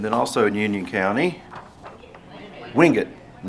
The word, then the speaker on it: Wingate: But it's not, the town is pronounced Monroe. And then also in Union County, Wingate, not Wingate.